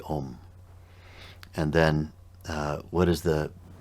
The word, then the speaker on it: Om: Likewise with the u, likewise with the And so A-U-M is not aum. Sometimes we see, or hear people pronouncing it that way because they see it spelled A-U-M. But it's actually om.